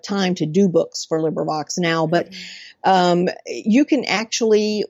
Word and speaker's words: LibriVox: I like that there's LibriVox. Did I say it right? Yeah. Actually, there are several ways people say it, but LibriVox is one of them, so that's fine.